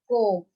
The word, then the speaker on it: comb: 4, comb. You have done that. B is silent.